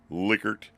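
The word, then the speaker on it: Likert: is the liquer scale I believe the guy was German that invented it and that's the way it's pronounced liquer again you've seen these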